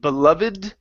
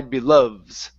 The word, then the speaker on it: beloved: this word here H there's a debate you can say beloved from my beloved's voice or from my beloves okay pronouncing uh using the Ed ending rule okay I think I